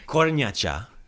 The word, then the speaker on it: kornjača: Kornjača. Kornjača. You can be a corn ninja, but it's a kornjača.